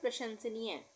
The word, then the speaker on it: प्रशंसनीय: प्रशंसनीय, प में ये रेफ की, सॉरी र की, जो हमने बताया था रेफ और पदेन दो मात्राएं होती है आधे अक्षर आधे र के उच्चारण के लिए, तो यहाँ पे ये है पदेन की मात्रा, यानी प्र बन गया ये प्र। उसके बाद शंस, श के ऊपर बिंदी लग जाएगी, शंसनीय, प्रशंसनीय।